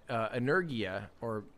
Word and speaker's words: Energia: I mean, from what I know about it, Energia is how you pronounce it.